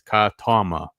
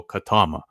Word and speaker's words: Katama: Um, yes, Timothy, it's spelled KMA in the book, but there's literally a panel where they give you the actual pronunciation, which they specify is Katama. So, Katama. Um, but yeah, but it's